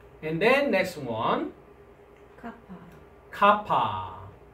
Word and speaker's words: kappa: Kappa. Kappa. Kappa is the consonant. English pronunciation is K sound, like a king.